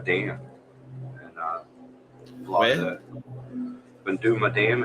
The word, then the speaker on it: Boondooma: I want to go to Banduma Dam and fly Where? that. Banduma Dam.